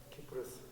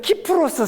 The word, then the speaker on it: 키프로스: 참 그러니까 한글로 근데이 섬이 영어로 사이프러스 또는 키프러스 우리 말 발음할 때 CY 그 어떨 때는 키프로스 섬이라고 하기도 하고 사이프러스 섬이라고도 하고 그리고 한글 성경에는